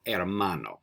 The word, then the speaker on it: hermano: Now, that was a little trick, but did you remember that when we see an H in Spanish, there's no sound? We don't pronounce the H. So it's not el hermano, it's el hermano.